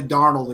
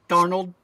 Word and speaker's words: Darnold: lot more than you darnold how is just like Arnold with a d at the beginning I I don't know